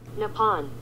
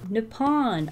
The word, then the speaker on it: Nippon: Well, let's figure out how you pronounce it. Ready? Let's listen. Nippon. Nippon.